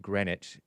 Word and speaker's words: Greenwich: It looks like Greenwich, but it's pronounced Greenwich.